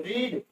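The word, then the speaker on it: read: अब देखिए रीड वार and piece, तो यहाँ हो जाएगा you ever have रीड रेड, spelling वही रहेगी, थोड़ा सा प्रोनाउंस जो है वो डिफर हो जाएगा।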